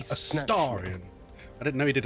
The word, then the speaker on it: Astarion: I was in Baldur's He pronounces it like that. Astarion.